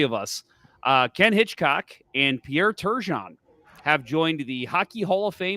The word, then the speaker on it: Turgeon: You said Turgeon's name wrong. Pierre Turgeon. It's Pierre Turgeon.